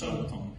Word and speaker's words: Sabaton: Do I say that right, or is no, it's Sabaton pronounced Sabaton.